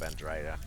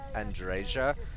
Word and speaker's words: Andreja: I apologize, by the way, for constantly mispronouncing your name. I know it's Andreja. It's hard to say for me. You know, the way it's spelled, it looks like it should be Andrea, but I've heard people say Andreja, and I know I'm